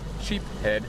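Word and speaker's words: sheepshead: Sheep head is the right way to say it.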